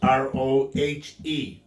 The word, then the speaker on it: Roger: It's Roger. Get it right, rookie. So your name is Rugger. No, as they say, all my friends down in Texas, Roje. Roge. Yep, it's pronounced Rohe.